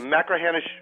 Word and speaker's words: Machrihanish: How do you pronounce this dunes course? Machrihanish Dunes.